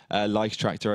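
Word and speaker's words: Leichttraktor: Lichtractor, I should pronounce it.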